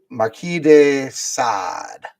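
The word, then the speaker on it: Marquis de Sade: names I don't know I'm pretty sure Marquee is Right Marquee de sad but I do know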